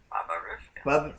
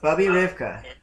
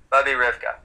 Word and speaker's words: Bubby Rivka: Baba Rivka. Bubby Rivka. Bubby Rivka? Yeah. That's how you pronounce it. Bubby Rivka.